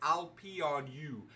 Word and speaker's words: Peranaught: And by the way, those who don't know how to say my name, it's I'll pee on you.